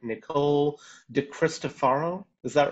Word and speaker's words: DiCristofaro: get this right, Nicole DiCristofaro, is that right? Yes, it can be pronounced two different ways depending on what part of the world you're in, but you nailed it, so good job.